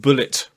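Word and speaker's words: Bulleit: Chris i b uh I've been told it's pronounced Bullet bourbon uh but I I still want to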